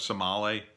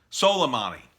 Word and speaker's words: Soleimani: I didn't agree with his assassination of Somali. How do you say his name? The Iranian general, Somali. I forget how to say his name. Soleimani.